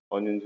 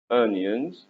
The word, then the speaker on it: onions: محدش يقول لي onions. onions دي غلط. الأو هنا بتنطق onions. onions اللي هو البصل.